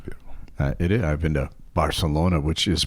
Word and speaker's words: Barcelona: It I've been to Barcelona, which is pronounced, by the way, Barcelona with a T. Bar like a like you've got a lisp. Barcelona.